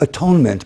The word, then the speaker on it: at-one-ment: And that sense of belonging, of not atonement, but at-one-ment. You put the syllables a little differently.